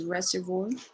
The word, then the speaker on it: reservoir: What is reservoir? Yeah, the pronunciation is a French word, so you say reservoir.